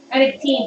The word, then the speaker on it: Reannag Teine: It's like people stumbling over our business name, which is Reannag Teine, which is largely phonetic, which is kind of odd for Gaelic words.